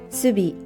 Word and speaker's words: 寿美: name, using 寿"longevity" and 美"beautiful" as 寿美 and pronounced "Subi" I think it's wonderful and I really like